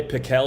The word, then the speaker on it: Pickell: last name right JD I've been called everything in my day pickle is how you say it but pickle bro I'll